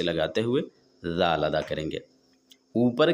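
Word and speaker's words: دال: अगला हर्फ दाल है जो सिंपल है। दाल आसानी से हर कोई अदा कर लेता है। जबान की नोक को ऊपर के दांतों के पीछे रखकर दाल अदा होते हैं।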